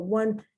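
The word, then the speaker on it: won: verb when one one but one is not spelled o n e it's spelled w-o-n and it's the past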